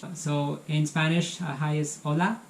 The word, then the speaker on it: hola: So in Spanish, hi is hola. It's hola. So H is silent.